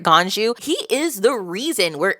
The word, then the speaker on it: Ganju: well Gan wait did I say it right ganju he is the reason we're able to keep